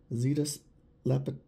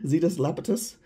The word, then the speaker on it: Zetus Lapetus: noodles nail polish this one is called Zetas lapus lapus yeah I know I butchered that sorry zetus lapetus the blue KY with sapphire raspberry pink and